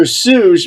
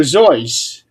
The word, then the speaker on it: Seuss: Everybody pronounces his name as Dr. Seuss, but is really Dr. Zois.